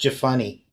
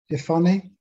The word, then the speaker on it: Jephunneh: Pronounced Jephunneh. Jephunneh, okay.